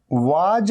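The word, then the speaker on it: was: ये वाज नहीं है, वाज। कई स्टूडेंट्स कहते हैं वाज, ही वाज नहीं। पहली बात तो वा नहीं, Waugh. He वॉज, ही वॉज going there, वॉज।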